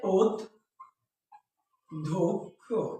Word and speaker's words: অধ্যক্ষ: বলি যদি বলি যে অধ্যক্ষ অধ্যক্ষ যেমন দেখো এটার উচ্চারণ হচ্ছে ও ধক্ষ ওকে তাহলে এখানে দেখুন